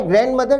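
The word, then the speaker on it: grandmother: माई ग्रैंड मदर, ग्रैंड मदर है दादी, विद्यार्थी ध्यान दें इस शब्द में डी को नहीं उच्चारित किया जाता, प्रोनाउंसिएशन में डी को छोड़ दिया जाता है।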